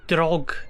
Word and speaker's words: Draugen: correcting my pronunciation early it's kind of like Dragon but so there's an interval or space or a pause it is me slow